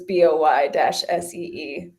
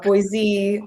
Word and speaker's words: Boise: And so it helps people because it's BOY-SEE. It's not Boise. It's not boys.